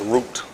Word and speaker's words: Ruth: call it Ruth well her name is Ruth pronounce route the you acts as a double Oh a double O sound route let's see one